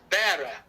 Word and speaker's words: Vera: I'm in Vera or pronounce it here with a B cuz V's in Spanish are pronounced with B's. So, it's bearer.